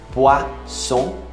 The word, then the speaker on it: poisson: Peixe, poisson, lembra do rei que eu falei? R-O-I, roi. Então, sempre que tiver O-I, é wa. Poisson, não é são, nem ão, de aotil não, poisson.